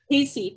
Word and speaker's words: CACEA: otherwise pronounced as CESA, or how do you pronounce it? Casey, thank you.